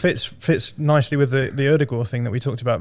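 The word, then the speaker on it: Ødegaard: explain it to me erdogan that's how you pronounce you don't have the d in there martin erdogan if you're actually like norwegian so i would say erdegaard but that's wrong erdogan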